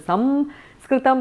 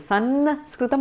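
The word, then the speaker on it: संस्कृतम्: In the south it is Samskritam, in the north it is Sanskritam, a dental one. In Maharashtra and all is Sanskritam, it's somewhere in between different anunasikas. And in Bengal you've got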